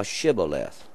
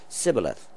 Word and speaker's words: Shibboleth: And if he said, Nay, then said they unto him, Say now Shibboleth. And he said, Sibboleth, for he could not frame to pronounce it right.